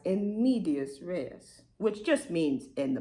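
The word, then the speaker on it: in medias res: I'm going to start right in the middle in medias rees. Hold on. Wait. Okay, I looked it up. It's actually pronounced in medius rees, which just means in the middle.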